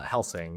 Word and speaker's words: Helsing: and I don't know how this other company hasting I think is how you pronounce it. Uh, Helsing.